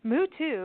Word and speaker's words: Muto: can go there were mood to is actually how you pronounce it but we call him